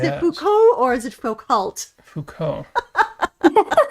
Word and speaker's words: Foucault: Is it Foucault or is it Foucault? Foucault. You know, the French always leave the last few consonants out of the pronunciation.